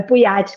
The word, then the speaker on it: Pujat: É PAT que se pronuncie, embora se escreva Pujat.